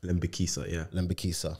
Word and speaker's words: Lembikisa: But yeah, we got Dexter Lembikisa. Did I say it right? Lembikisa.